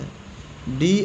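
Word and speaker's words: head: तो यह ब्र बी आर E broad ए उच्चारण साइलेंट हो जाता है। डी आर ई ए डी डैड। ड्रेड means डर। एच ई ए डी हेड। तो इधर ए साइलेंट है।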